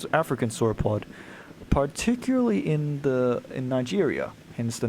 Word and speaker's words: Niger: It's an African sauropod, particularly in Nigeria.